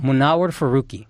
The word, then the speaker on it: Munawar Faruqi: Munawar Faruqi.